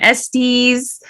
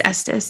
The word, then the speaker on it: Estes: and for 20 years they said my name wrong everyone in the office every secretary everyone said my name Estes for 20 years and my students would say I don't I don't think that's right it's Estus and I'd be like not miss Estes Miss Estes and I fought for